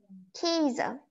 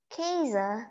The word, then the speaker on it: Käse: Käse. Käse means cheese. You just say K and then a Z. Käse.